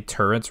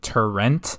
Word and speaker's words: turret: You can correct me when I say turrets wrong. If you don't know, I guess it's become a little meme on the first 100 days, but I kept on saying turrent with an NT instead of turret.